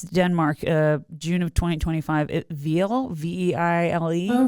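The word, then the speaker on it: Vejle: Veile, Veile. Oh, Veile.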